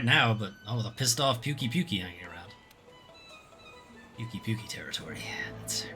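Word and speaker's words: Pukei-Pukei: Puke is how they pronounce it. Once the camp is set up, you can go after that Puke. I wonder where the resource center is. I thought it was Pukey, because he pukes.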